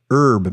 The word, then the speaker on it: herb: as Smiths soldiers farmers and even silent h herb Masters trying to get on my good side